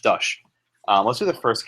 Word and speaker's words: Dusch: the Hannah versus the uh and dush pronounced dush um let's do the